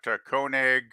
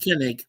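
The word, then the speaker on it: Koenig: got Shatner we got kig kenig It's pronounced kenig but that's okay I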